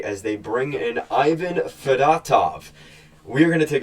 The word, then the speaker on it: Fedotov: to the point where I called him Ivan fedotov so now we figured out Danny Brier in this press conference it is at least the way Brier pronounced it fatov and um yeah so looking at where things